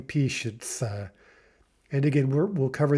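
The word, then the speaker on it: пишется: notice that patients uh we're not pronouncing that like p shia the way it's written we're saying peace uh and again we'll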